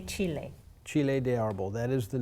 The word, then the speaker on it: chile de árbol: Chile de árbol. Chile de árbol. So, and with this one you say chile. Chile de árbol, that is the name.